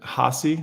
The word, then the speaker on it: Haase: you know what's funny my last name I pronounce it hassi like posi and my wife pronounces